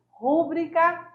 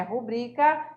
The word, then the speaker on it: rubrica: E aí a gente trouxe o mesmo exemplo da aula para lembrar para você em relação à pronúncia, né? Nós temos aí rúbrica, que é rubrica, né?